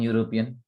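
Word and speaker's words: European: यूरोपियन में ना य प्रोनाउंस हो रहा है, वाई ओ यू, यू मतलब ना वाई प्रोनाउंस हो रहा है यूरोपियन में।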